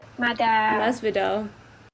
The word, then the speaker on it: Masvidal: Masvidal.